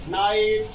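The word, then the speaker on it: knight: यदि वो आ जाए तो प्रायः के का उच्चारण हम नहीं करते हैं। जैसे for example नाइट, knife, no, knowledge.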